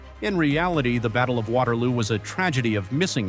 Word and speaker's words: Waterloo: On June 18th, the mud of Waterloo, pronounced VALO locally, is slick with blood and rain.